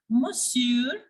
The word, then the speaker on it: monsieur: in French like bonjour, monsieur, bonjour, monsieur. Here, the R is pronounced, but the N is silent.